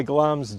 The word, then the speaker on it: Glamis: well spell glams because a lot of people pronounce it wrongly yeah glams g-l-a-m-i-s and it was a childhood home of